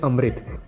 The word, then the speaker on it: अमृत: ये लोग बोलते हैं अमृत। इंग्लिश में अगर जिन्होंने देखी होगी तो उसको वो लोग एमरिटा करके बोलते हैं, प्रोनाउंसिएशन, बट बेसिकली अमृत होता है वो।